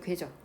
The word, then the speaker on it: 궤적: 기적과 같은 발음이죠, 그죠? 궤적이에요, 궤적.